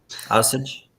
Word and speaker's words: Osage: How do you pronounce that again? Osage.